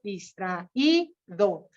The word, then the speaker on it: distraído: que tienen más sílabas distraído Aquí vamos a acentuar la i porque está en la penúltima sílaba igual que alegría o